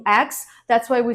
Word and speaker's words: UX: word number four is ux designer ux not X it's ux designer word number five simil